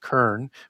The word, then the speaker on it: Cern: as a two-horned god, and Cern as you get that into the Etruscan pantheon, also pronounced Kern with a K, it's pronounced Hmm. both ways, and that's Proto-Indo-European for two-horned god.